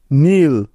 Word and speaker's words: kneel: নীল, KNEEL, নীল। এখানেও প্রতিটি উদাহরণে এন এর আগে কে আছে, তাই এগুলোতে কে সাইলেন্ট বা উজ্জ্ব আছে।